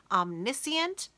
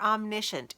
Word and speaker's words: omniscient: about third-person and now this word is a little tricky you can say either missing or omniscient either one is correct it depends on who you are as to how you say it where you're from different things different people say it differently but it's the same word so don't get stressed